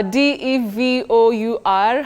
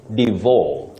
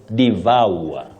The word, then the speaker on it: devour: go about that oh many people innocently say Divo some even say Diva but bet the correct pronunciation of that word is devour devour it has what we call a TR thong that is a glide on three vowel sounds devour exactly the way